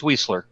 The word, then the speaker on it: Weisler: Is it Weisler or Weisler? Is it like? It's Weisler. Weisler. Yep. Okay. Yep. Weisler. The I is silent.